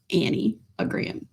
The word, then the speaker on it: Enneagram: So you might be asking, what is the anagram? And it's spelled E N E A G- R A M but pronounced anniagram.